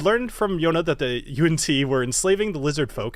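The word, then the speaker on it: yuan-ti: posting that video that most people pronounce it Yonti. But you know what? In the Lands of Dimidium, they're called UNT.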